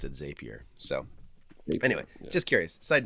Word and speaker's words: Zapier: lot i call it zapier um because at one point they had a model that said zapier makes you happier but but most people actually pronounce it zapier so anyway just curious